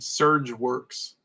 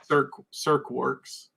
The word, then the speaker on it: Cirque Works: fusion con and i i said his name wrong i said surge works but cirque works and um then later